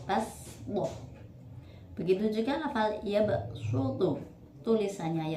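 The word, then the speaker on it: بسطة: Dalam surat Al-Baqarah ayat 245 yaitu kata baswah tulisannya menggunakan shod, tapi dibaca dengan huruf sin, basdoh.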